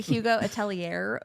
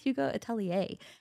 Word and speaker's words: Atelier: I was calling it Hugo Atelier for 6 months until someone corrected me, and they were like, it's actually pronounced Hugo Atelier.